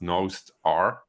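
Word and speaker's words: Nostr: have heard of Master uh which is actually pronounced nosed R um and um it's a relay peer-to-peer version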